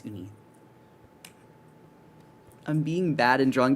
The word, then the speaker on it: Uni: The brand is Uni. Oh, sorry. Like spelled like this also. Yeah, it's Ooni.